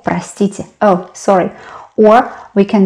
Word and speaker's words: простите: Простите, we pronounce а, though you can see о.